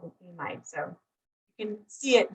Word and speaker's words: amide: So some people might call it an amide, right? I call it an amide. It can be a little confusing because there's something called an imide that's very similar, like IMIED.